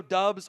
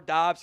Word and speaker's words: Doubs: um, a big picture-wise, Romeo dubs or doubs, he's fine with both both pronunciations, so I always do dubdubs or vice versa.